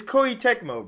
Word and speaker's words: Koei Tecmo: Because it's made by how the fuck do you even pronounce this, bro? It's Koei Tecmo, bro.